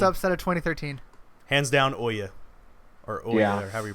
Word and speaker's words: Ouya: Hands down, Oya. Or Oya, or however you pronounce it. However the hell you pronounce that crap. Ooh, yeah. Ouya. I think it's like, oh yeah, almost. It's oh yeah.